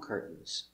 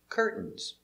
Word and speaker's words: curtains: Curtains. Two pronunciations. Curtains or curtains.